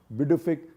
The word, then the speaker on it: Pituffik: That is the Pituffik Space Base. It's spelled p i t t u, but the pronunciation is Pituffik Space Base.